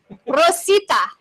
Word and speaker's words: Rosita: Rosita. She rolled that good.